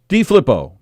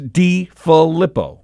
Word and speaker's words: DeFilippo: And in the video, he goes, "Hey, Greg DeFlippo." Like it's D.I.? DeFlippo? DeFlippo, Greg DeFlippo. Yeah, so either we've been saying his name wrong forever and a day, or he doesn't know how to say his own name. It's spelled DeFilippo.